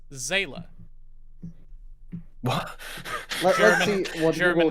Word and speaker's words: Seele: I mean, the Evangelion wiki article lists the pronunciation as Zayla. What? Let's see what German Google translates as as. Zayla. Oh. Seele. Sense, I guess. Zila.